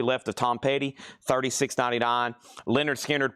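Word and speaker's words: Lynyrd Skynyrd: Leonard Skard Pronounced Leonard Skinnard.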